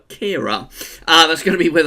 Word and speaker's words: Ciara: I pronounced the name wrong in the 5-day forecast. I said it was Storm Caira, it's actually Storm Caira.